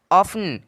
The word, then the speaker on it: often: OFTEN, ऑफन, क्या ऑफन, ऑफन मतलब होता है अक्सर या प्राय।